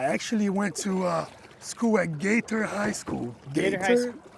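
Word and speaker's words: Gaither: I actually went to school at Gator High School. Gator High School. How do you spell that? Just like, G-A-T-H-E-R. okay, so it's not like gator, like alligator. No.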